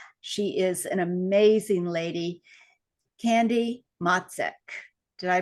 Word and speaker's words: Candy Motzek: wonderful new friend she is an amazing lady candy matsek did I pronounce that right you got it you got